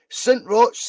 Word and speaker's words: St. Roch's: How do you pronounce that? St. Roch's.